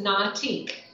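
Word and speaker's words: Na'atik: business so the name of the business is not ich and how do you spell that it's n a apostrophe a TI k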